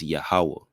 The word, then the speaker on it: Yahuwah: discussing you know how the true pronunciation of the tetragrammatin is yahuwah no for naysayers know